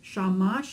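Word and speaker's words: שמש: has its own beat so shamash is sha mush two beats two syllables the secret of good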